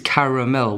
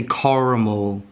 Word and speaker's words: caramel: most of you um why do you not pronounce the second a like it's caramel why why do you say caramel what happened it's not